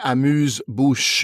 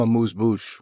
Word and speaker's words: amuse-bouche: I mean, that's a weird one because it's so hard to pronounce it in French. So you have to really go like une amuse-bouche. And then how many people can really do that with their mouth? So that it's just become amuse-bouche, right? It's just become an English word of an English version of a French word.